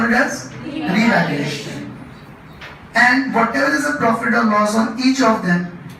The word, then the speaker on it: revaluation: Okay, whenever I ask you, it should not be pronounced as revolution, it should be pronounced as revaluation.